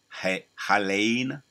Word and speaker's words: Helene: They got the Hurricane Helene. That's how you pronounce it.